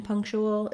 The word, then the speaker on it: punctual: air for it and then finally letter a is vowel schwa in punctual it's an unstressed syllable so we have three syllables punk chu well this is uh misleading there's a punctual we have that dark l with a little bit of a schwa before it oh punctual you might